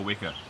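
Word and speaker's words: weka: Eat a wicker. It's spelt W-E-K-A, and it's not a kiwi.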